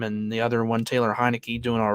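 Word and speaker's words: Heinicke: It is pronounced Taylor Heineke.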